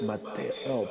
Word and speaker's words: Mateo: Coming in second is Mateo, pronounced Mateo in Spanish, right?